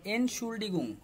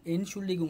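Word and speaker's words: Entschuldigung: হ্যাঁ, এখানে জি জি, এনশুল্ডিগুং we highest do, এটা হবে এনশুল্ডিগুং ইএনটি এন্ড, এভাবে বড় ওয়ার্ড ফেলে ভেঙে ভেঙে উচ্চারণ করবেন। ইএনটি এন্ড এসচিএইচইউএল শুল ডিআইডি জিইউএনজি গুং এনশুল্ডিগুং।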